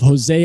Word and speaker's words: Jose: We have Jesse with us. Jesse, how do you pronounce? Or not Jesse? I'm sorry, Jose.